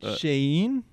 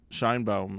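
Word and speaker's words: Sheinbaum: she um I believe well how is it pronounced wouldn't it be uh it's it's shanen no it's uh shine bom it's a a Jewish last name wait there's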